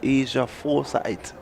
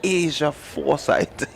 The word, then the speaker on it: Aja Forsyth: Leslie, I want to correct you there because I got that correction. Asia Foresight. I mispronounced. I pronounced it just how you did. And I mean, at one time the parent was at me. It's Asia Foresight. I was corrected right away.